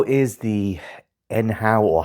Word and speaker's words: nhow: How is the nhow or how? I've heard some of the staff refer to it as how. So, I think the N is silent, which makes no sense, but whatever.